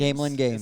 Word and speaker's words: Gamelin Games: Gamelin Games. Gamelin Games. That's how it's pronounced.